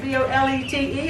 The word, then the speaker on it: bolete: I don't know how you pronounce it. B-O-L-E-T-E.